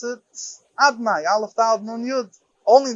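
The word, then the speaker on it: אדני: How do we pronounce it? Adnai, Aleph Dalet Nun Yud.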